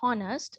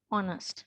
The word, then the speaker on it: honest: So this we should not read honest. This should be honest, right?